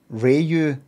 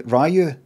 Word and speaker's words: Ryu: in Street Fighter six reyu well actually they say Ryu actually they say value